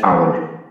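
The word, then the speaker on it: hour: I will come after dash আওয়ার, এইচ এর উচ্চারণ কিন্তু এখানে এইচ নেই, আ হয়েছে, এখানে হয়েছিল অ এখানে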